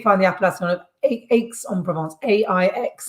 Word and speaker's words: Aix: That's where you find the appellation of Aix-en-Provence, A-I-X. Is that how you pronounce it? Yep, Aix.